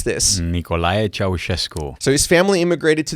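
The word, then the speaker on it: Nicolae Ceaușescu: Pastor Gheorghe is the 8th of 12 children born in Romania under the communist regime of George, help me pronounce this. Nicolae Ceausescu.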